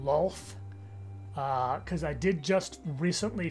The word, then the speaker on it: Lolth: It's shockingly difficult to pronounce the name as Loth or Loth rather than Lolth, because I did just